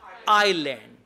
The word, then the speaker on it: island: to walk to the island how do you spell island i s l A and D and S is silent okay one is Iceland